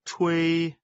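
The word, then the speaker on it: 吹: the pronunciation of Thuy she is pronounced as the in the English word Chinese and way similar to a in way the pronunciation is assisted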